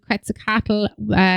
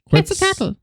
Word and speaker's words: Quetzalcoatl: In Mesoamerica, Viracocha and Quetzalcoatl, they walk among humans. You did not pronounce that at all properly.